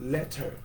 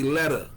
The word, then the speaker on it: letter: We don't say, would you write me a letter? Because that's how it's spelled, letter, right? Yes. We don't pronounce it like that. We say letter. Our T's be like D's.